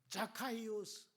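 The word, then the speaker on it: Ζακχαῖος: 예수님은 자카이오스, 헬라식 발음으로 삭개오를 부르잖아요.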